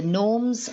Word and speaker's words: gnomes: k is silent and in the gnomes the g is silent so they are asking